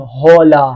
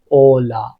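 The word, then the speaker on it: hola: هیچوقت ما آچه رو تلفظ نمی‌کنیم. نمیگیم هولا. حواست باشه ها اینو خیلیا می‌بینم اشتباه می‌کنن زبان آموز سر کلاس. اولا اولا آرار آورر آورر آورر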